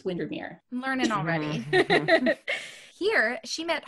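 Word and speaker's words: Windermere: at Ray Castle near Lake windermer Mir windir it's windir learning already here she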